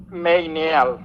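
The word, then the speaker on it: Meynial: Hoy tenemos, como les habíamos dicho, una invitada muy especial, Claire Mayniel. Creo que se pronuncia así, si no me corrige. No, es media, la Y no se pronuncia.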